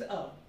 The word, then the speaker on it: œufs: Les œufs. Yeah, in singular it's œuf, in plural it's œuf, because S gets added up at the end and consonant after consonant, the pronunciation becomes silent.